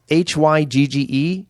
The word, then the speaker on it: hygge: It's called hygge. It's Hygge. Okay. Yeah. Hygge. And listeners, look it up. Hygge.